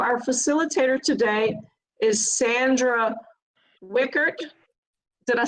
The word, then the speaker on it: Wiechert: So our facilitator today is Sandra Wiechert. Did I say it right, Sandra? You Yes, corrected yes. my pronunciation.